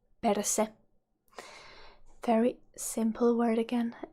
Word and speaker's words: perse: Ass in Finnish is perse. Perse. Perse. Very simple word again. It's you just need to remember to pronounce that R sharply.